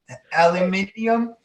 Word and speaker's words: aluminium: Yeah, I could point out, never trust anybody that spells the word, aluminum with an I and doesn't pronounce it. Aluminium?